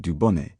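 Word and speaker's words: Dubonnet: Sometimes Americans will throw accentuation further forward than we do, onto the first syllable of foreign words like consommé and du bonnet, though they might argue that their practice sounds at any rate less defiantly non-French than ours.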